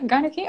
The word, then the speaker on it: gynarchy: because I believe in what is it called, gynarchy. How do I pronounce this correctly? I think you did it. Yeah, gynarchy.